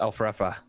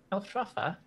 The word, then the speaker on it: Elfrefa: My name is Elfrefa. Your name is what? Elfrefa. Elfrafa. Right? Am I pronouncing that right?